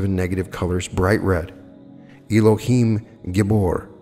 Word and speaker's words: Elohim Gibor: Elohim Gibor, pronounced Elohim Gibor.